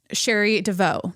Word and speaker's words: Cherie DeVaux: The fact that Cherie DeVaux, that's how you say it, is the first female trainer to win the Derby we love herstory.